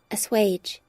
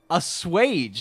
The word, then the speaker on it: assuage: Assuage meaning assuage. Assuage. Psych. I was pronouncing it wrong. Assuage.